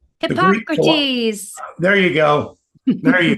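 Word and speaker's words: Hippocrates: and hippoc Cotes Hipp Hipp I always can't pronounce his name hippocrite the oh shoot what's his name hypocrates there you go there you go so with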